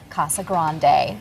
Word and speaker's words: Casa Grande: potato it is a Spanish word properly said Casa Grande but again would you call the Rio Grande